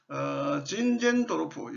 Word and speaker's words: 진젠도르프: 진젠도르프, 여기에 친젠도르프라는데 독일 발음이라서 진젠도르프라도 하고 좀 강하게 발음하면 진젠도르프라고 이렇게 합니다. 그래서 교과서에는 진젠도르프로 했으니까 진젠도르프로 사용하시면 되겠습니다.